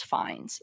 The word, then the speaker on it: Fiennes: I believe it's pronounced as Fiennes. Yes.